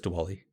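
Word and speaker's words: Diwali: time I think uh is it pronounced Dali I'm pretty sure it's dwali yeah Dali de de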